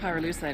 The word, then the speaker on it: pyrolusite: You know what pyrolusite is, right? Yeah, neither did I. Pyrolusite, key syllable pyro, by the way, is the